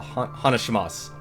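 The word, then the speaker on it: 話します: the end of a hanashimasu or You know, there's actually a U at the end of it, but you don't pronounce it. That's silent.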